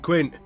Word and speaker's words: Quint: Peter f***ing Quint! I need to pronounce the T, don't I?